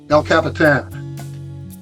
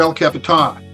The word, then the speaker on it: El Capitan: wall El Capitan. Uh or El Capitan. We're going to go either pronunciation but either way it's it's a formidable mountain in California's Yosemite National Park.